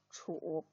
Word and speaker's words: 处: 注意要把多音字楚读准确，应该读作三声楚，代表楚暑这个节气。